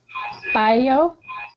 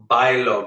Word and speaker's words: bailo: That's not a double L. That's a single L. So it's an L sound. Bailo. Repeat. Bailo. Now that A. Bailo. Good. The A and the I is one syllable.